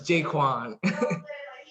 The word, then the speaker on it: JaQuan: Pronounce it. It's okay. It's JaQuan.